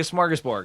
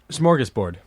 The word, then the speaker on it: smorgasbord: also have cold things is he really saying it right no it smorgasbord smorgasbord you cannot you can add whatever schmorg it's comprised of two words it's a portmanteau so it's swedish comprised of the word smorgas which is an open